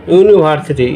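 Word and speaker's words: university: তাহলে আমি দেখতে পাচ্ছি ইউনিভার্সিটি ইউ এর মতো উচ্চারিত হয়েছে, ইউনিক ইউ এর মতো উচ্চারিত হয়েছে, ইউ এটাও ইউ এর মতো উচ্চারণ হয়েছে।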